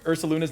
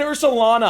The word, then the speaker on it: Ursaluna: We're going to talk about how you butchered Ursaluna's name. I said Ursalana. I didn't know. I missed the U. It's Ursaluna. Whatever.